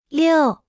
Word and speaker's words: 六: 六，六，六，六，六，六，六。 Se pronuncia con el cuarto tono.